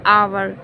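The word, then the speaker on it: hour: उसी तरह से एन आवर, यहाँ पर जो आवर का पहला लेटर है वो किससे शुरू हो रहा है, एच से शुरू हो रहा है, बट ये इसका प्रोनाउंसिएशन कैसा है, उच्चारण किससे हो रहा है, आँख से।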